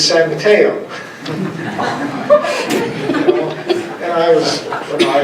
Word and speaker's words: San Mateo: happy to have you it's not sign video it's San Mateo and I was when